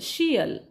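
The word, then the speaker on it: -tial: करता येईल दुसरा आहे बघा टी आय एल शियल टी आय ए एल शियल आता बघूया आपण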